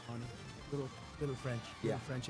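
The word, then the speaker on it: Fani: She goes by the name of Fannie, even though it's F-A-N-I. She wants to pronounce Fannie.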